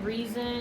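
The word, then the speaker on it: Rhysand: Ryzen, but it's So- pronounced reason.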